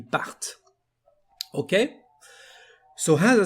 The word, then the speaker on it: partent: Again, for this last form, we are going to emphasize the T, ils partent.